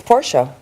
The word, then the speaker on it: Porsche: Is it Porsche or Porsche? It's Porsche. Porsche. It is Porsche because the brand themselves actually say Porsche.